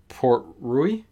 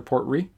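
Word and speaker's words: Port Ruighe: I think it's Port Rui because it's supposed to be like Portree, which is like the town there on the Isle of Skye.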